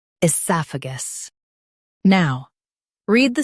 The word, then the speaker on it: oesophagus: Esophagus. Now, read the syllables of British pronunciation shown on the screen naturally. I, soph, gus. Esophagus. I, soph, gus. Esophagus. In US, stress sa. In UK, stress soph.